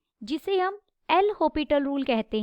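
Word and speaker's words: L'Hôpital: देखिए क्या होगा यूजिंग एल होपिटल रूल इसमें एस साइलेंट होता है इसे हम एल हॉपिटल पढ़ते हैं लिमिट बाहर लिमिट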